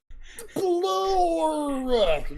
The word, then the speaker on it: SPLORR: It's like a 1-syllable word, but if you can make it into about 3 or 4 syllables, SPLORR.